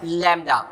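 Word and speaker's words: lambda: This is a Greek letter जिसको हम यूज करते हैं वेवलेंथ के लिए, एंड इट is pronounced as लैम्डा।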